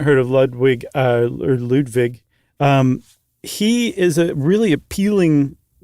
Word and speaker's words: Ludwig: Ludvig II. And we're saying the W like a V, correct?